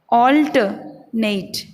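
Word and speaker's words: alternate: Actual में इसका उच्चारण होगा ऑल्टरनेट, ऑल्टरनेट बोलिए, ऑल्टरनेट, नेट।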